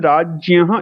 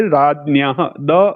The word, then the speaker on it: राज्ञः: अहं राज्ञः इति उच्चारणं करोमि। भवन्तः यदि कोङ्कण प्रान्ततः सन्ति राज्ञः न राज्ञः इति उच्चारणं कर्तुं शक्नुवन्ति। अथवा यथा भवताम् उच्चारणमस्ति राज्ञः, यथा भवतां राज्ञः, यथा भवतां मातृभाषी उच्चारणमस्ति तथा अनुवर्तयितुं शक्नुवन्ति। उत्तरभारते राज्ञः गय राज्ञः इति वदन्ति।